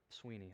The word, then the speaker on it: Swinney: syndrome and serves under Dabo Swinney Sweeny I say Swaney every time because the way it's spelled but the point being